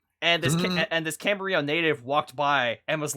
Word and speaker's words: Camarillo: you're supposed to say camber real like the l's or the l's are silent uh yeah but so